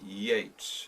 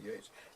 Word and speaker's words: Yeats: Yeats. Is that the proper pronunciation of his name? Yeats, W.B. Yeats. Yep.